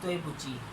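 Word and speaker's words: 对不起: So there is a specific word in Chinese named as toibuchi.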